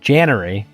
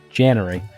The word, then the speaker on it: Janary: I thought of like a canary. So, I was like, "January, canary."